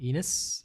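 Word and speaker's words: Ines: I hope I'm pronouncing that right, but it's spelled I-N-E-S, so Enos, I guess.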